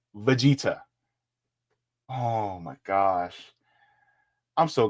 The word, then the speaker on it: Vegeta: taking in a one versus one Goku or vegar from drag hold up Vegeta Vegeta Stephen step Stephen bro at least learn how to pronounce the name it's Vegeta oh my gosh I'm so glad they didn't